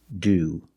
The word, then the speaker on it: to: work he's sick and sometimes it's pronounced do when it's after a vowel and before the schwa sound like go to a